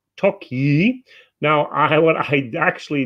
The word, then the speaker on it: Tokaj: the word pronunciation and the J is pronounced like a Y in the word you so told you you